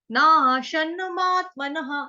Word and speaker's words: नाशनमात्मनः: इसमें कैसे करना है, नाशन मात्मनः, न आशन, नाशन मात्मनः, विसर्ग का उच्चारण ह से या हा से कर सकते हो, बट ह जो है वही एक्यूरेट है।